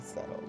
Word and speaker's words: subtle: for subtle and I know like the word is the way it's spelled but I say subtle you know what I